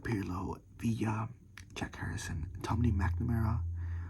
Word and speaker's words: McNamara: Lampard, Pirlo, Villa, Jack Harrison, Tommy McNamara, which I used to call him Tommy McNarma because I didn't know how to pronounce it until I like listened to the commentators, Martin Tyler and Alan Smith.